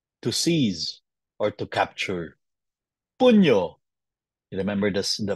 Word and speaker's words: pugno: a double C to seize or to capture puno remember this the pronunciation it's not pugno it's puntis to fight that's why in English